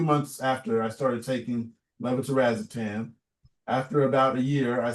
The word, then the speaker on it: levetiracetam: It says levetiracetam.